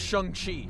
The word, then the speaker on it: Shang-Chi: First of all, it's pronounced Shang-Chi.